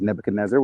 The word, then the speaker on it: Nebuchadnezzar: and specifically the king of babylon came nebuchadnezzar pronounced in english as nebuchadnezzar which is an interesting pronunciation my favorite um